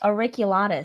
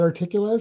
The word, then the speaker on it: auriculatus: Auriculatus. Auriculatus, not articulatus, auriculatus.